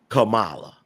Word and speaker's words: Kamala: Okay, that word is pronounced Kamala.